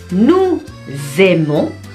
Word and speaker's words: nous aimons: Nous aimons, nous aimons. S1 di tengah, itu dibacanya Z, di tengah dua huruf vokal.